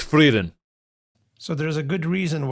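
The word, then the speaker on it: Frieren: Naruto okay bro stole my joke uh it's frein F it's freen so there's a good reason why himl also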